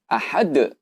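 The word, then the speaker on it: أحد: Ini adalah salah satu huruf qalqalah. Bagaimana kita membacanya? Itu dipantulkan.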